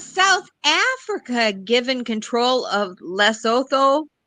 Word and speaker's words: Lesotho: I think it's pronounced Lesotho. I think So- the TH is pronounced the hard T, like Thomas.